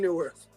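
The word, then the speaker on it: Neuwirth: It's BB Newworth. Is it BB Newworth? It's BB. That's how you pronounce it.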